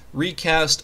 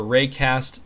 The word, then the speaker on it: Reicast: that I recommend is called recast or raycast depending on how you pronounce it this emulator I'm using